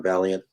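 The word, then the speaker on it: Vaillant: remarkable book by john valiant i highly recommend it uh i know his name looks like violence and as a canadian i would pronounce it violence but he's actually an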